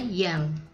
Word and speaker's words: jang: Huruf J untuk menuliskan bunyi Y seperti kata jang, yaitu penulisannya jang tapi sebetulnya membacanya yang.